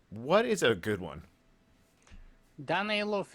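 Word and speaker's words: Danaylov: Danilov is the proper one.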